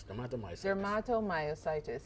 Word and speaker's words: dermatomyositis: for morning yes so so how is it said theato myositis you see deato myus close tomato okay myus d dermatomyositis all right now that